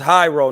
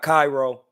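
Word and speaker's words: Jairo: It's Hyro, not Cairo. It's Hyro spelled with a J.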